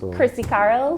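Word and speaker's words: Chrissy Carryl: it's on facebook on your name could you spell it for us chrissy carl c-h-r-i-s-s-y c-a-r-r-y-l okay so if we go to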